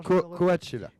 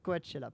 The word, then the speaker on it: Coachella: Celui-là, j'ai toujours un peu de peine à le prononcer. Rock in Rio et Coachella. Faut le refaire. Non, Coachella. Coachella, pardon.